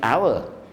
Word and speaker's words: hour: pm this a library hour the time library open we see library hour hour hour hour you don't pronounce h no no no sound don't pronoun why i don't know but